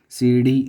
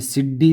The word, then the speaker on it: सीढ़ी: डी जो बिंदु आने वाला है, इसका उच्चारण देखो, जो जीभ है अपने ऊपर से टच होके आती है थोड़ी सी, बिल्कुल डी। सीढ़ी। अभी सिड्डी तो नहीं होती, सिड्डी जो पढ़ते हैं वो गलत पढ़ते हैं।